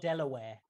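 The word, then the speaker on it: De La Warr: Oh, are you going to Delaware or Royal Pavilion? It's pronounced Delaware.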